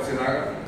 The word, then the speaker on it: Sinaga: Is it that maybe you were the MC and you mispronounced the speaker's surname, so it became Singh instead of Sinaga?